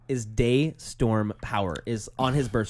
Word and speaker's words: DeStorm: you say Daystorm, you have to say it like Daystorm.